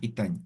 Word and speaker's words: itaña: Itaña es a mano, puede ser a crochet, a palillo, eso es itaña, ¿ya? Entonces, aquí está explosiva.